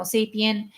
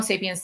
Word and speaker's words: sapiens: convergence that creates Homo Sapien Homo sapiens the I got bitched out for not using the S at sapiens because I don't care